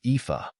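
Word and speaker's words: Aoife: English it is spelled as AI the correct pronunciation of this word is epha epha means an Irish female given name meaning beauty or Radiance here is how you can use it in your daily routine example epha is a common name in Ireland we are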